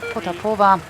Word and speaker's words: Potapova: A rider from the Kazakh team, Faina Potapova. It's usually the emphasis on the penultimate syllable.